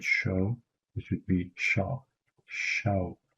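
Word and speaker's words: شەو: Night would be shaw. It's like, you know, the British pronunciation of the word shaw, which would be shaw.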